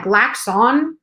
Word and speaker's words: Glaxon: Yeah, Glaxon. Wait, like wax on. I have to say it like Glaxon.